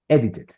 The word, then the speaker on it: edited: Edited. Very good. Edited because finish in T. Cuando el verbo termina en T y es regular, ahí sí debo pronunciar la sílaba final.